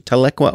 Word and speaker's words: Tahlequah: Pronunciation? Tahlequah, Oklahoma.